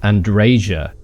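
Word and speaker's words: Andreja: as well just saying apparently it's pronounced andresia okay I was not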